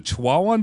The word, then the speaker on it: Chihuahuan: with three distinct ecosystem uh is it the Chihuahuan Desert yes absolutely okay I am pronouncing it right okay the Chihuahuan Desert uh Rocky Mountains and the Rio Grand